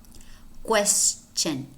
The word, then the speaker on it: question: a high-frequency words and most Spanish speakers mispronounce is the word question question question now do normally spelled